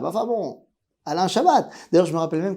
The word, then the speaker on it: Chabat: nom de l'acteur Alain Chabbat après on va me dire que le thé ne se prononce pas et qu'on dit à Alain Chabat enfin bon Alain Chabat d'ailleurs je me rappelle